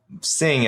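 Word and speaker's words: Singh: like a Chinese name it should be sing as in s i n g h she's Indian I don't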